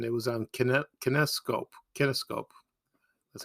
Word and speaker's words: kinescope: was repeated and it was on connect kinescope kinescope that's how you pronounce it that's where you take a camera